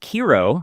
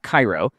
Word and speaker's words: Kiro: Um it's and it's pronounced Kro like hero not not Cairo.